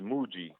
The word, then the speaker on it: Mooji: you pronounce Mochis name Mooji Mooji between mo old ji Mooji you hit me